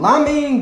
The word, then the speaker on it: ramen: Hoje nós vamos fazer uma receita muito especial pedida por alguns de vocês, que é o Ramen do Naruto. Finalmente, beleza! Ou ramen, como é pronunciado lá no Japão, da onde a receita se originou.